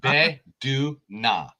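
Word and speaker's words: Bae Doona: And also in this movie, Be Du Na. That's how you pronounce it.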